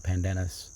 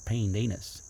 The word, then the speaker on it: pandanus: the us and so they would call a pandanus they would pronounce it a pandenis so when i was